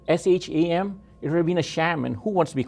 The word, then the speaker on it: Shyam: it is spelled is s-h-y-a-m and people look at it and say it should be shyam but no it's not it's sham and the reason is that